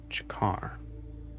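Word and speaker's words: Čukar: over the u uh which you know is chakar.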